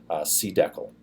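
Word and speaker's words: cdecl: here at pronounced airs I pronounced it this way C deckle so the c calling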